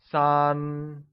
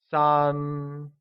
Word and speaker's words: 三: 3 becomes 三 and is pronounced with a high level tone, like 三.